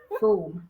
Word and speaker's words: Frome: Yeah, pronounce the I'm like Frome. Froome.